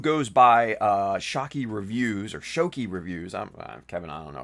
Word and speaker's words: Shoky: But anyway, go check out Shocky Reviews. SHOKY. No C. Shocky Reviews. I posted about it. Shoki Reviews. See, I knew I didn't pronounce that right.